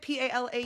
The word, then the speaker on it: Palau: P-A-L-A-U?